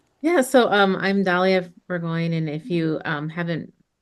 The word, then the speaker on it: Burgoin: So, um I'm Dalia Burggoyne and if you um haven't heard of me